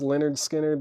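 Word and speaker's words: Lynyrd Skynyrd: shrink VG copy 999 Leonard skinnard pronounced Leonard skinnard that is a 2015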